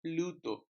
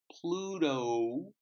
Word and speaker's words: Pluto: number two Pluto Pluto so it's not Bluto it's Pluto yes I know it